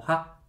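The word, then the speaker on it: ห้า: en el idioma taeo en el idioma tailandés el 5 se pronuncia como Ja Entonces cuando alguien quiere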